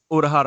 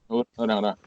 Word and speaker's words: Uraraka: I can't even pronounce her name. Uraraka. Yeah. Urahara. Yeah. Yeah. Uraraka.